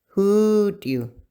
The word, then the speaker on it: hoodoo: The vowels are not pronounced twice, like o or oo. They are pronounced longer. The enunciation is more stressed when it's in the first part of the word, and you can find